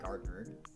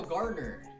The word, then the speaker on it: Garner: Did I say Gardner? I'm a retard. Errol Garner.